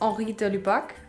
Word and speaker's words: Henri de Lubac: He's French, so it's Henri de Lubac, and maybe I didn't pronounce it right because French isn't easy.